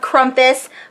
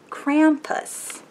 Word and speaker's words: Krampus: And the lovely Gisela sent me a pop figure of Krumpus, which, or is it Krampus? Krampus? Krampus. I'm saying it wrong.